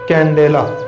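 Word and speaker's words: candela: तो इसको अगर हम पढ़े ना तरीके से, इसका इसी के अकॉर्डिंग अगर हम प्रोनाउंसिएशन करें तो वो होगा कंडेला, लेकिन हम बोलते क्या, कैंडेला।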